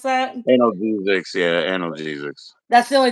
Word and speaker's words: analgesics: An analgesic or allergistic or whatever the fuck how you pronounce that. Analgesics, yeah, analgesics.